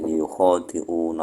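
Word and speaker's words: يخادعون: Membacanya itu ya-nya berharokat dhamma, kha-nya berharokat fathah disertai alif, terus dalnya berharokat kasrah. Berarti yukhadi'una Allah.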